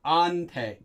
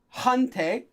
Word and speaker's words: 한테: Notice that this is actually pronounced as ante. That has to do with the hiat being a really soft sound. So it's never a hante.